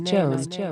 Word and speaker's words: Joeun: My name is Joeun. It is spelled J-O-E-U-N, but it sounds like Joan, as in Joan of Arcade.